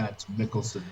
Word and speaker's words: Mads Mikkelsen: was wrong with, help me out with this, Mads Mikkelsen? Is that how you say it? Mads Mikkelsen, yes.